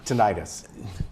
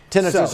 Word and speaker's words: tinnitus: No, tinnitus, right? Yes. Okay. Tinnitus or tinnitus, they pronounce it both ways.